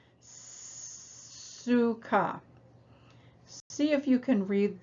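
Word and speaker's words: סוכה: new in this lesson so it starts with the new letter samek that letter represents the sound it sort of makes the same sound as steam being released suka see if you can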